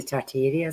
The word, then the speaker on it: Tartaria: If any of you have seen the Tartaria stuff, is that how you say it, Kerrie?